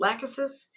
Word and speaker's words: Lachesis: Some people pronounce it Lachesis, I pronounce it Lachesis.